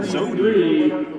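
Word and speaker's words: Brzozowy: Hey, batter number one, Sozzi. And if you can spell that out correctly, it's b r z o z o w y. Sozzi is the pronunciation we're given.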